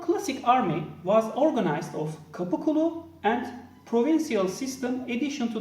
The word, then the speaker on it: Qapu: Originally, Qapu. Qapu means subject or man of the gate, indicating their collective bond with the Sultan. Ottoman classic army was organized of Qapu and provincial system addition to the Ottoman navy.